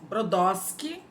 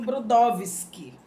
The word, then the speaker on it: Brodowski: uma cidade chamada Brodowski é muito comum você ouvir brodósqui é que o pessoal de lá eles não pronunciam Brodowski eles pronunciam brodósqui e e os pais